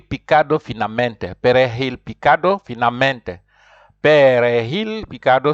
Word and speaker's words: perejil: Perejil picado, so J there you pronounce like H, perejil picado finamente.